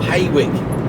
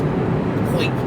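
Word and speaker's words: Hawick: And then there was I got a Hoik or Haywick, but it's pronounced Hoik, just over the Scottish borders.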